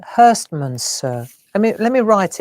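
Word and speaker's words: Herstmonceux: you know where to because it's not as you would think it. That's why I don't know how to say it. I think this is right. Hurstman sir. There you go. That's how it's Hurst Monser.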